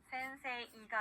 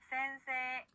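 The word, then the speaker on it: せんせい: 자, 선생님이라고 하는 일본어 단어, 에단 뒤에 그대로 이가 왔습니다. 그러면 센세이가 아니라 센세라고 길게 발음해줘야 되겠죠? 따라해볼게요. 센세.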